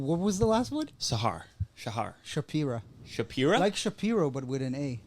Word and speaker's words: Shapira: Shapira. Shapira? Like Shapiro, but with an A. Like Shakira, but with a P. Shapira.